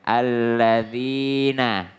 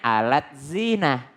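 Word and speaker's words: الذين: Alladzina. Ya. Alladzina. Latinnya gini nih. La pakai D terus Z. Nah. Harusnya bacanya alladzina. Kalau orang salah baca dia bilangnya alat zina.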